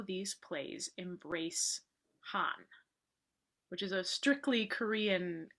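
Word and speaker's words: 한: So Han, I spell it H-A-N, Koreans pronounce it Han.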